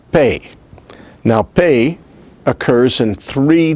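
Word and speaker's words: פּ: Now, the pe with a doggish is pronounced like the P of English, the P of pop. It is bilabial, stop, and voiceless also.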